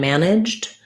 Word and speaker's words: managed: So for manage, management, and managed, we have first syllable stress. We have that black cat vowel we've been talking about. Managed, we have a schwa here. And then the GE says the J sound, like letter J at the start of words.